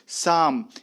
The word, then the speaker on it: Psalm: शाम, इसका जो प्रोनाउंसिएशन है PSALM, आप ये देख रहे हैं, इसको शाम पढ़ते हैं, P साइलेंट रहता है, जिसका अर्थ होता है भक्ति गीत, ए डिवोशनल सॉन्ग।